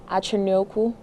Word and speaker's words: Achonyoku: It's actually longer, but was cut down into just 4 letters, actually pronounced Achonyoku, which is Igbo.